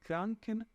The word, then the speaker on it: Krankenhäuser: Olha, eu tenho esse ditongo que eu pronuncio como se fosse oi. Então, aqui eu tenho die Krankenhäuser, que são os hospitais.